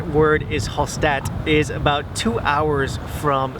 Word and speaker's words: Hallstatt: era i mean we thought it was called hall staff and so hall staff hall stat the correct word is hostat is about two hours from salzburg and so